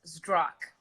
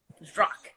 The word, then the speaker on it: Zdrok: So it's just how it looks. Zdrok. That's it. Zdrok. Yep. That's it. Just one syllable, just Zdrok. That's it. Zdrok.